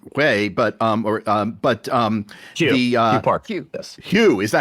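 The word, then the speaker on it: Hue Park: by Aronson and Way, but but um Hugh Hugh Park. Hugh. Yes. Hugh. Is that how you say it? Uh Hugh Park, yes.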